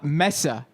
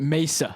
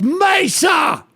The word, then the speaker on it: Mesa: She pronounced it uh Messa and locals pronounce it Mesa. It's Mesa.